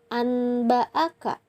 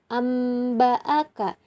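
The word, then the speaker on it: أنبأك: Jadi dibacanya bukan anba'aka, tetapi amba'aka. Jadi nun matinya itu dirubah menjadi huruf mim.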